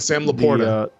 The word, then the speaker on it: LaPorta: Sam Laporta.